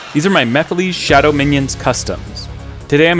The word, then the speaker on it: Mephiles: But first, some of you may not know of Mephiles. Who are you? And how do you know my name? And yes, I know it's pronounced Mephiles, but this is how I say it.